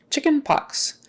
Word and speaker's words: chickenpox: the teeth chemotherapy chickenpox chicken pox that starts with ch also but it has the typical CH sound chicken pox pox uh the X sounds like a KS pox pox and thean